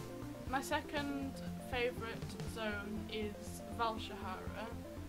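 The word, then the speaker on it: Val'sharah: My second favourite zone is Valshahara. It's the first one that. Nothing. What? In WoW they say Valshara. Valshara. Yeah, that's how they pronounce it in WoW.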